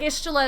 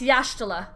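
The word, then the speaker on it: Y'shtola: pronounce it in Japanese like ishula is not ishula it's yashtila in Japanese um and there are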